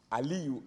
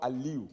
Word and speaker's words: Aliyu: the tribunal to say that Aliyu, A-L-I-U, which is how Aliyu is pronounced in Edo State where I was born. But moving to Kaduna, you know that in the north, the same Aliyu is spelled as A-L-I-Y-U.